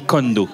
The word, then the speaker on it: Kohndo: Moi mon prénom s'écrit K-O-H-N-D-O. Voilà. C'est pour ça. Et donc on dit Kondo.